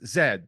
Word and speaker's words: zed: yes like it is Zed the proper correct pronunciation of Z is Zed which is and I